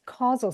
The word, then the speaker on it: causal: spelled it casual or you pronounced it casual which is interesting but it's causal so they have no